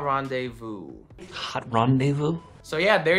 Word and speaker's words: rendezvous: Silent Z, how about rendezvous?